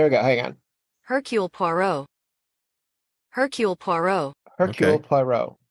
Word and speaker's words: Poirot: Hercule Poirot. Hercule Poirot. Hercule Okay. Poirot. Cool, cool. Hercule Poirot. Poirot. PWAA-ROW is the phonetic.